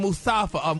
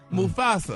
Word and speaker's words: Mufasa: Now they're saying they're gonna star in Mustafa. How you say it? Mufasa? Mufasa.